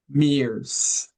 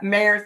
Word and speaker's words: Mairs: And her name is none other than Mears. Mars, did I say it right? Oh, it's yeah, Mairs. You know what? It's however anybody wants to pronounce it. 'Cause you But know what Mairs does the trick.